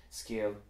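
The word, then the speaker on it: scéal: So scale, that's E fada A. E fada A in Munster Irish is pronounced E. So for example, scale, and also the Irish word for 100.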